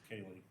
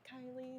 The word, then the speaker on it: Kaylee: It's Kaylee. Yeah. No, I believe my mother said it's Kaylee. That's it. Not Kylie, not anything else.